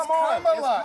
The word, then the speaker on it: Kamala: So pronounce her name right. Let me actually pronounce her name right. Kamala Harris. Kamala. You said this. We don't call you Nancy Mase. It's Kamala.